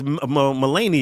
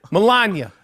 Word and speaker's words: Melania: that's not his wife it's melenia I mean sorry melenia Melania yeah she she's not ever going to live